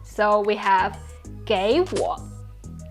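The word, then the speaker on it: 给我: They are both third tones, which means the first third tone needs to change to the second tone. So we have 给我，给我，给你，给你。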